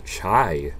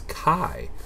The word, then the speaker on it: chi: got to learn that this is not the chai squar distribution it's Kai uh Greek letter Kai pronounced k i Kai Kai squar distribution and